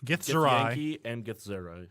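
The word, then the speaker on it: Githzerai: Yankee and Gith Zerai. Yep. Yes. If I'm saying it right. You are correct.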